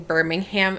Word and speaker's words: Birmingham: Um, and this was happening in Birmingham, England.